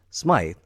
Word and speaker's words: Smythe: John Smythe, or as he pronounces it here, James St.